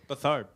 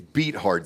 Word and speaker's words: Beathard: Bethard. Oh, Beathard. Sorry, man. You keep mispronouncing that. It's Beathard.